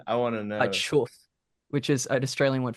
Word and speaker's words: choof: Yeah, We have a band the called Chuff here who really sick and do that, and it's I love it every time. I'm keen. say the So band it's name again. I want to a know. Chuff, which is an Australian word for weed.